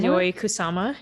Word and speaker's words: Yayoi Kusama: Yayoi Kusama? Yayoi Kusama.